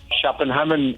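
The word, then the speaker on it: København: area of uh copenhagen uh chaplin hammond as it is uh pronounced in danish and uh uh prime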